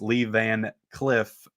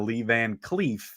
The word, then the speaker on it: Lee Van Cleef: review last night because i pronounced lee van cliff instead of lee van cleef uh so i'm sorry